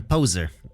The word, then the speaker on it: pose: ethics cognate with modern poser though through the old French word po posh just in case you can't hear me speak these words French pose rhymes with the name Jose since word final air